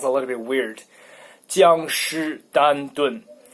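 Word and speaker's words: 江诗丹顿: 江诗丹顿. 江诗丹顿. Why it sounds a little bit weird? Because 僵尸 in Chinese sounds like zombie. So it's a zombie Constantin.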